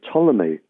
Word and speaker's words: Ptolemy: scientist living in egypt by the name of ptolemy spelled with a p pt um he the ptolemies